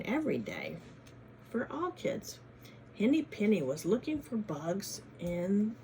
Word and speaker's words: Henny Penny: Kind of rhymes with Benny, doesn't it? Henny Penny.